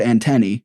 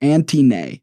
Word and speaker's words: antennae: heard the word before he pronounced it Auntie nay and instead of correcting him our teacher just let him read a full page with this word repeating I started to watch her as he read and she was smirking and trying to hold back laughter when he finished reading she said it's pronounced antennae by the way and the